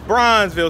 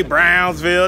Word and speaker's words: Bronzeville: Is it Bronzeville? Bronzeville. It's Bronzeville. See, it has that little slang tone to it. So, you know, I say Brownsville. They talking about Bronzeville. I got to say it right. You know what I mean? You got to use that husk to say it just right. But anyway. Not brown, but bronze. Bronze.